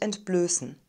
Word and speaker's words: entblößen: end ist immer unbedingt wir haben einen langen geschlossenen umlaut ö ein scharfes s also einen stimmlosen es laut und eine reduzierte and silbe das wird also als schwach oder sogar gar nicht ausgesprochen sie wollte ihre seele